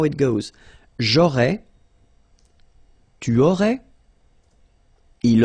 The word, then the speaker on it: aurais: J'aurais, so final S, not pronounced.